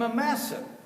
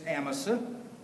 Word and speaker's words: Amasa: distant from this apostate who call him a massive the correct pronunciation is Amasa but his best friends